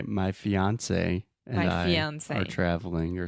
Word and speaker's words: fiancé: So I would say my fiance and I are traveling or something. Yeah, fiance. Just like Beyonce.